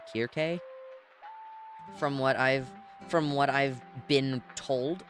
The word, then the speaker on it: Circe: I don't know if we're looking at, like, Greek pronunciations where, you know, the famous name, like, Circe from mythology is actually, if you look at the Greek letters, is actually Kirke.